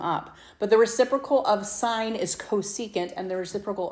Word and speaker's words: sine: Sine, shortened to SIN, but you still pronounce it sine.